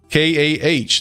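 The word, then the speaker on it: Kah: K-A-H. That's pronounced ka.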